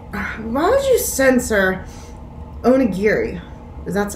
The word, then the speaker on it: onigiri: sensors and i'm like why don't you censor onigiri that's how you pronounce it do they not think western kids